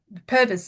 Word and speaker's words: Purvis: got Campbell Purvis from Purvis, isn't it? Is that how you pronounce it? Yes, that's Yes, correct.